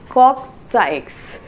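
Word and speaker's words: coccyx: but the actual pronunciation is cui and you pronounce x at the end so it is cox cox sikes so this is how the vertebral column will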